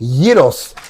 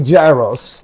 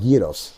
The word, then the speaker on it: gyros: are cooking what today Yos say it the right way don't say Gyros cuz that's how I know that's how a lot of people say it right that's ridiculous but that's how you say it's called yeos right it smell smells fantastic